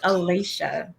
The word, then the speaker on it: Alasha: You did pronounce that properly. It is Alasha.